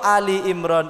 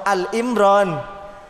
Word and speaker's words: Ali Imran: itu namanya keluarga Surah Ali Imran itu kenapa dinamakan surah Ali Imran? Karena membahas tentang keluarganya maka tidak ada surah Al Imran, yang ada itu surah Ali Imran.